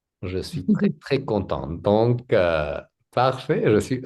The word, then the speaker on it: contente: Mais ça c'est contente. Contente. Donc le thé, il faut prononcer le thé. Oh parce que c'est féminin.